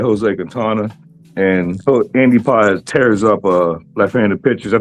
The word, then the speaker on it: Pages: I've been calling him Andy Pages. Yeah, but a lot of audience might not know who it is. And the way his real the way his name is pronounced is Paez.